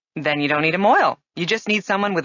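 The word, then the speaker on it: mohel: Moil, which is spelled M-O-H-E-L, is really a Yiddish word which has come into common usage in English.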